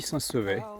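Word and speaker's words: Saint-Sever: Ce soir à Saint-Sevet, je on dit Saint-Sevet, les poulets de Saint-Sevet. C'est une prononciation un peu bizarre mais c'est comme ça.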